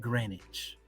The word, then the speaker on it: Greenwich: It is February, and it's spelled Greenwich, but they pronounce it Greenwich.